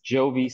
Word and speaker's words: Giovi: on Facebook so that's Jovi that's g-i-o-v-i and then it's so like Giovanni not like a lot of people mispronounce my name they think it's only good so it's like Giovanni um but Jovi